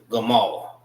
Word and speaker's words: gamal: Gamala.